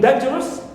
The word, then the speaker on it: dangerous: Also we have us, like in dangerous, dan is stressed, but rus is neutral.